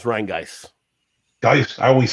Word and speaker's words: Rheingeist: It's Rheingeist.